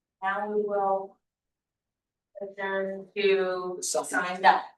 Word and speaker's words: sine die: Sine die.